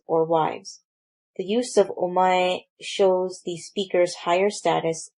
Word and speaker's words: omae: This pronoun is pronounced as omae and is very informal and used mostly by men.